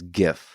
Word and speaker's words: GIF: The correct way is GIF.